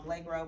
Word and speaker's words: Blagrove: My name is Attorney Blagrove. I'm the Executive Director of Emancipate NC. Okay, spell that for me, please.